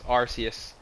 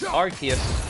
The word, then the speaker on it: Arceus: Pokemon Arceus or Arceus I've always pronounced it as Arceus and many Pokemon fans did as well so when it when they revealed it as Arceus a lot of us were confused and not used to saying it that way